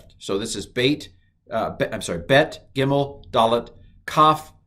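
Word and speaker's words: ב: Now, the Bet, I'm going to do differently. So I'm going to go ba if it has the dot and va if it doesn't.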